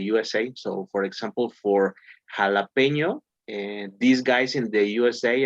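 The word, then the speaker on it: jalapeño: Poblano or Jalapeno?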